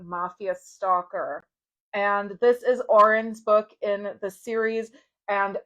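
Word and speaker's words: Odhran: into talking about Mafia stalker and this is orin's book in the series and o d h r an it's pronounced Orin and it is a traditional Irish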